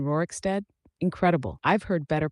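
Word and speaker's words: Rorikstead: and that's a pretty far walk from Rory Rooric Steed, if that's how you say it, to Karthpire. Oh, you sweet confused soul. Rory Rooricsteed. You mean Rooricstead?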